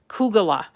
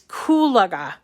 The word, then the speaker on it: Kulaga: name wrong ku kulaga i always want to say kugala but it's kulaga kulaga nancy kulaga and